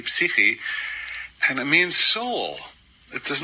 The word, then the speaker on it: psyche: She said, the word psyche is a Greek word. It's actually pronounced psyche, and it means soul.